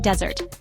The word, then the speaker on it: desert: The Sahara is a vast desert. In this context, desert refers to a dry, sandy area. The stress on the first syllable changes its meaning.